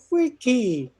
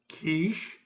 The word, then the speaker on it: quiche: did i do i just asked for a quickie here on the menu mr handsome in the first booth still slurping his peaches turns to the centenarium excuse me sir you know it's pronounced quiche and it's not a tart it's made of